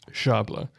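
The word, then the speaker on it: szabla: share something uh it's shabla the s z is pronounced like an sh yeah there you go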